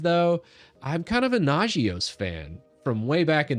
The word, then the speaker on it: Nagios: It's pronounced Nagios.